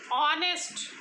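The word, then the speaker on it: honest: एक before a word beginning with a silent H, अभी आपको बताया ऑनेस्ट, आर, इनके आगे क्या लगता है, एन लगाया जाता है, राइट, क्योंकि वो साउंड देता है वॉवेल की।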